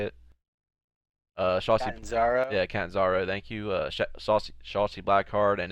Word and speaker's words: Catanzaro: Caden Carter versus Cassie Cadenzo. How you say it? Shotzi, Catanzaro. yeah, Catanzaro.